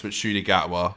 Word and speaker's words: Ncuti Gatwa: I think a lot of people were struggling to pronounce it, but now we know it's Ncuti Gatwa.